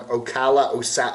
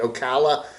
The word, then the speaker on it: Ocala: So he travels all over the place around Ocala, how do you say it, Ocala, up there north of Orlando, and can't find